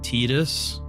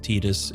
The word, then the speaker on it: Tidus: That's why they chose those names, and it's pronounced Tidus in Japanese.